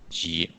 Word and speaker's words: 级: Ji.